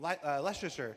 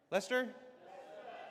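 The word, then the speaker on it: Leicester: Uh, straight out of Kleser back to the hex photos from Leicster. How do you say, is that Leicster? Lester.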